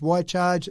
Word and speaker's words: Wi-Charge: So We Charge, Why Charge, it's spelled WI-charge.